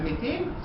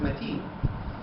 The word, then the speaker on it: متين: The first two lines in the source show perfect heteronym with the repetition of the same word matin, but with different pronunciation. First as metin, second as matin.